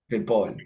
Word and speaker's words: Ripoll: I've tried to learn rolling my R's forever. Can't do it. So Ripoll. Ripoll. Accent, right? Yes. Sounds better when you say it because you can roll your R's.